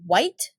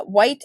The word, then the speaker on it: Wight: via the aisle of white uh white as in like Dwight like spelled like Dwight okay or light or night or fight however inclement weather blew